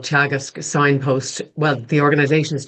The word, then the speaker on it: Teagasc: And the organization is Chagus. So it's spelled T E A G A S C.